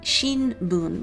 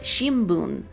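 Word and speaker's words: 新聞: in them, like newspaper, you would romanize it as shinbun. So it looks like shinbun, but you actually pronounce it shimbun, more like an M sound.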